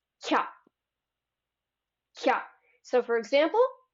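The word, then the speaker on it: きゃ: But if the ya is tiny, it's like it drops the I from the ki, and now it's one sound. Kya, kya. So for example, kya, kyu, kyo.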